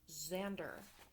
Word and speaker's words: Xander: It's pronounced Xander.